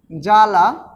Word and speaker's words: জ্বালা: জ্বালা উচ্চারণ উচ্চারণ করি তাহলে কিন্তু বটা উচ্চারিত হবে না তারপরে আবার দেখো তক